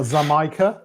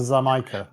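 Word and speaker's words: Xaymaca: The plantation Zama. Yeah, that one. Yeah, that's I call it Jamaican. J make it. Oh, but I see where you're getting the ZA.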